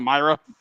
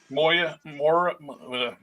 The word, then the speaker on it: Moira: um enchantress myra what which one myra mctaggart oh not myra moya okay you won't be